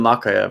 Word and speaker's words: Mokaev: Mokaev.